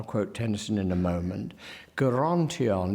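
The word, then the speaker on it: Gerontion: Tennyson in a moment guarantee on it's very important there's a hard G it's important that it is not the sound that we are used to within the only such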